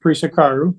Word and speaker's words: Prisecaru: It's pronounced Prisecaru. It's spelled like the word price with an S, Prise, and then car, Car, and then the letter U.